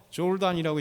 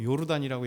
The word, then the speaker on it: 요르단: 그래서 J를 갖다가 Y로 이게 읽을 때가 있고 이제 J로 읽을 때가 있습니다. 왜냐하면 영어식 발음이냐, 독일식이나 유럽 발음이냐에 따라서 그걸 갖고 해서 조르단이라고 얘기할 수도 있고 요르단이라고 얘기할 수 있는 거예요.